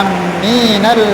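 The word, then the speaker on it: آمين: Yang pertama dengan mempanjangkan alifnya dan memanjangkan mimnya. Mimnya.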